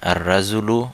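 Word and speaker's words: الرجل: লাম উচ্চারণ হচ্ছে না আর রাজুলু লাম উচ্চারণ হচ্ছে না আসসামাকু লাম উচ্চারণ হচ্ছে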